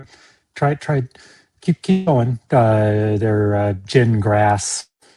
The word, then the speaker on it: Gingras: They're gin grass. It's pronounced gin like you drink and grass like you mow.